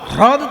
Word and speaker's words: হ্রদ: কিন্তু হ্রদ উচ্চারণটা সবসময় হয় না, হয় রফলা দ, হ্রদ তো।